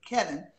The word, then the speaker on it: Kelvin: When Kelvin Hunter, I didn't know his name was Kelvin with an L. That's some country shit. Kevin. So they dropped the L, or the L is silent.